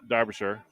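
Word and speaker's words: Darbyshire: Imagine the E is an A. Darbisher. And the I is a U. And the Darbisher. And then it's imagine it's spelled D A R B Y S H A.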